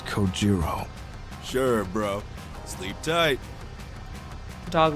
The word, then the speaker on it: Kojiro: Get It Go Jimbo the way he deliberately mispronounces my name really bothers me it bothers me so much that the anger boiling inside me gives me the strength to open my mouth once more it's coiro sure bro sleep tight